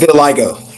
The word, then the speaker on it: vitiligo: His mission is to bring attention to the psychological impact of vitiligo. Did I get it right? Pronounce it right? Vitiligo.